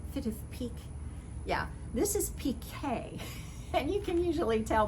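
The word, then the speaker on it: piqué: of a pk knit people often will call it peak but peak is something different and it has to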